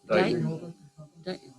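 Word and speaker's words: Dighton: The town I've never been able to pronounce well. Dayton, is it? Deighton? Oh, Dayton? Dayton.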